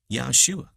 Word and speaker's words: Yahshua: a man named joshua which in hebrew actually is pronounced yahshua same name as our